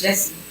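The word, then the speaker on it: Gyasi: E you know it it's almost like they're saying Jesse you you know what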